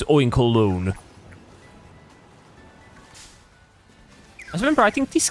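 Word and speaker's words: Oinkologne: I I guess it's supposed to be said like that because you pronounce cologne as well. Cologne. So, it's oink colon.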